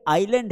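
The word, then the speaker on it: island: तो ये आइलैंड है। आइसलैंड नहीं लिखेंगे आइसलैंड। लिखेंगे क्या? इसको आइसलैंड लेकिन बोलेंगे आइलैंड।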